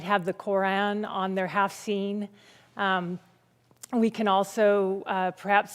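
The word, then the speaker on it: haft-sin: their home called a half scene and that's half h-a-f-t persian word and scene it's s-i-m but pronounced scene and that's the scene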